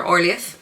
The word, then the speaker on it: Orlaith: that I have because it's actually spelt the same way that the Irish name Orla is spelt, but they're calling her Orlaith in the audiobook, so I'll take it that that was the intention of the author, but I can't help but read Orla.